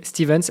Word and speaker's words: Stevens: Donc pas l'anglaise quoi, c'est pas Stevens, c'est c'est Stevens.